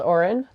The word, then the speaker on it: Oran: Yeah, Oran is just the Gaelic word for song. It's pronounced like it's spelled Oran.